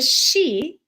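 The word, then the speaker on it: sidhe: Like for example, they say the she is spelled s i d h e.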